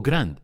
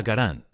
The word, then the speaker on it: Garand: O Grand, si quieres armar una pelea en los comentarios. El diseñador del arma lo pronunciaba Garand, así que nos quedamos con eso. De cualquier modo, sea como